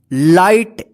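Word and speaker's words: light: मतलब होता है सही लाइट एल आई जी एच टी देखिए यहां पे फिर जी एच आया साथ में एक साथ तो जी एच का उच्चारण नहीं होगा लाइट का मतलब क्या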